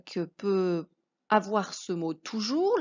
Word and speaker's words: toujours: peut avoir ce mot toujours. La syllabe tout, rien de particulier. Pour le jour, ça vient du mot jour, hein, la même chose que mot jour, donc c'est bien le j de jus.